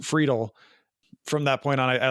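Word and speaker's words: Friedle: We would just call him Will Friedel. And then he posted a thing where it said it's pronounced Friedel.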